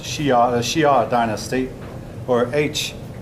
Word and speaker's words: Xia: Then came the Xia dynasty, otherwise spelled Xia, pronounced Xia, the Xia dynasty, or HSIA.